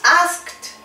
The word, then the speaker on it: asked: Por ejemplo, por acá tenemos asked, wait, pulled, worked. Vamos a darle una práctica a la pronunciación. ¿Los repetimos? Asked, asked. Como si después de la K tuvieras una letra T.